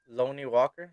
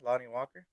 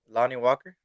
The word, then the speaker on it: Lonnie Walker: of right now I don't know how to pronounce his name is like l-o-n-n-i-e something lonely Walker Lonnie Walker oh yeah yeah how did you how did you say it Lonnie Walker that's not what you said